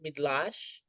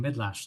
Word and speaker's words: Mydlarz: And the last name is it Midlash. Oh wow. Yes, you've been practicing Midlash. That is correct. Oh, I'm so excited to have Ger. So, we have Dr. Midlash here with us and he is the director